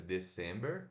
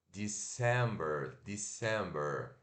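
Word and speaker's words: December: mês de Dezembro né se escreve d e c e m e er como se fosse the simber né mas se pronuncia de Samber e curto e de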